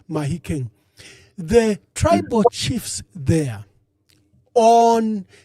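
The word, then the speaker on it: Mahikeng: call it Mafiang it's written Mafiang but it's pronounced Mahikang the tribal chiefs there on the you know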